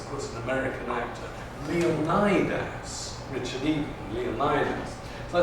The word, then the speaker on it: Leonidas: course, an American actor, Leonidas, Richard Egan, Leonidas. So I said, be bold, go for it, pronounce him the way the modern Greeks, the contemporary Greeks, Leonidas. And, well, the rest is history, he's Leonidas.